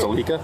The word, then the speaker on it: Alica: Alica. That's Alika. Mhm. How you spell that?